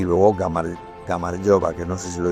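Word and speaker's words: გამარჯობა: Y luego Gamaryova, que no sé si lo he dicho antes, pero el saludo típico es el hola.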